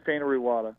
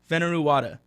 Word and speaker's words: Fainaru-Wada: Am I getting that pronunciation right? Close, that's fine. Fainaru-Wada, yeah. Fainaru-Wada. Fainaru-Wada, all right.